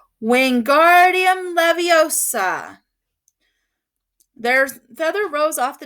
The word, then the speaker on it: Wingardium Leviosa: much more luck when Guardium Leviosa he shouted waving his arms like a windmill you're saying it wrong Harry heard Hermione snapped it's when it's Wingardium Leviosa make the GAR nice and long you do it then